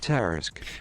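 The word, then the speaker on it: Tarrasque: Tarisk.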